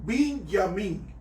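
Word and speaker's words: בנימין: Benjamín se pronuncia en hebreo Binyamin y era el hijo menor de los 12 hijos de Jacob.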